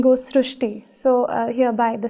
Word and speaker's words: Srushti: unique name srusti so in Marathi the word re is pronounced as Rue so that is why the pronunciation goes srushti so hereby the spelling